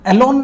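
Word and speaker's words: élan: एलोन इसको पढ़ते हैं, मैंने बोला था ना, इसकी प्रोनाउंसिएशन थोड़ी सी डिफरेंट है। एलोन आप इसको बोलते हैं।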